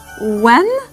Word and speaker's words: When: When هون ال H ما بنلفظها.